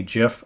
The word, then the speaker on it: GIF: PNG and the other common type of graphic is a gif file notice is pronounced GIF GIF like the peanut butter um it actually is pronounced that way so anyhow what I